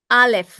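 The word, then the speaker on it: אָלֶף: It is pronounced as alf.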